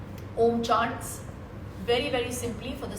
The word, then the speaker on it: Om: And I will teach you how to say the Om. A lot of people do it differently, but the way we concentrate and do the Om is that the O should be short and the Ma should be long.